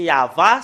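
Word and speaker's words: יהוה: l'an 2000 nous voyons très bien que c'est yava son nom c'est vraiment très très clair le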